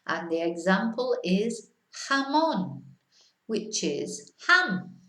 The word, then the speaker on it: jamón: But see how it's a H sound, not a J, not jamón. No, jamón.